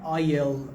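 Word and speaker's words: aisle: این راهرو وسطش میگن آیل آیل خانم معصومه و خانم افرای عزیز این آیل دیکتش داستان داره یه اسی داره که خونده نمیشه بگین راهروئ میگن آیل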